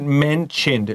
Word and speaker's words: mentioned: Let's look at the word mentioned, just like Bernice said. Listen to the pronunciation. She translated it just fine. Mentioned. 这个 ti 有那个 ch 发音. Write down a ch here.